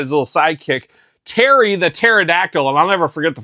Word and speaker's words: pterodactyl: I just didn't understand this P in pterodactyl. I don't like this silent P business, and we got that with Terry as well, with a Perry.